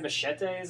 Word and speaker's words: machete: Is that like a yeti? it rhymes with yeti, at least how I say it.